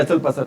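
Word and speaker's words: hustle bustle: एस टी एल, उसमें T word होता है, वो क्या होता है भी? साइलेंट। चहल पहल होती है, हसल बसल, हसल बसल।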